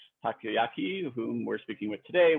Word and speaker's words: Takoyaki: It's Takoyaki. Takoyaki. Okay. Takoyaki. It's exactly how it's spelled, but exactly.